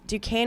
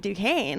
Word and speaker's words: Duquesne: It was so funny because I was playing on Broadway just the other day, and it was Duquesne was playing BYU March Madness, and I was like, oh my gosh, go Duquesne, heck yeah!